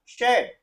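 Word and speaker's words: shed: एस एच का उच्चारण क्या होगा? श। ई ए डी ड। अब इनको हमने मिला दिया तो इसका उच्चारण हो गया शेड। हो जाएगा शेड।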